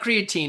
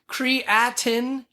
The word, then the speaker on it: creatinine: I want to say creatine. It's not creatine. It's creatinine. Creatinine? Something like that.